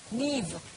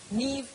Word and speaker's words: Niamh: So, Niamh, I always mispronounce Irish names. Please forgive me. How do you say Niamh? Niamh. Niamh.